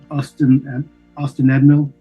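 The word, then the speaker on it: Ost-in-Edhil: Austin Edmill. I guess it's Ethel because Austin it's Ethel, the DH in Elvish. Oh, that's right. Like a Welsh Karas stuff.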